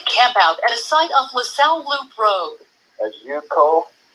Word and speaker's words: La Sal: they were in the South Mesa area by La Soup. I'm not sure how it's pronounced. La Soup Road? It's called La Salle. La Salle is the mountain, Lasale.